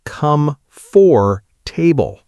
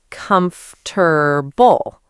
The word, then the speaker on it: comfortable: For a long time, the word I remember most, I was saying comfortable as come for table. And it is comfortable.